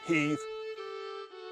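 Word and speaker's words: Heth: family black Heathman is spelled h-e-t-h they pronounced it Heath they were Scottish people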